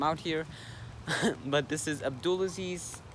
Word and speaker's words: Abdulaziz: But this is Abdulaziz, rhymes with a pool of bees, signing out of vlog number 9, I think.